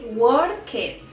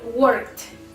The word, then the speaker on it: worked: I used to say worketh, worketh, but it was totally wrong, and it's just the sound of the letter T. For example, worked, worked, worked.